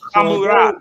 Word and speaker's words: Hammurabi: And you can say right here, this is a resh, So it would sound like ha. So Hammurabi.